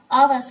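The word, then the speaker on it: hours: टू आवर लिखते हैं हर्स पर पढ़ते हैं आवर्स क्योंकि इसमें साइलेंट रहता है चलिए नेक्स्ट सटस देख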